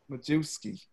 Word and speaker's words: Majewski: You gotta say it like that if you're from Jersey. $20. Majewski.